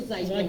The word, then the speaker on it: Zygoni: A lot of people call them Zagon masks. Yeah. That's what I always call Yeah. it. Well, I don't know if that's the proper pronunciation. It's actually Zygoni.